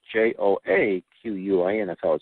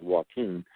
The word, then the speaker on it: Joaquin: our speakers bureau and walking nolock can pronounce that first name is Jo a qu infl spell but it smells Joaquin Joaquin he is the co-director of the documentary